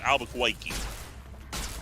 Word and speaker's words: Albuquerque: Gotta say it right, Albuquerque.